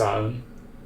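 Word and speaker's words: Samhain: pronounced Saun.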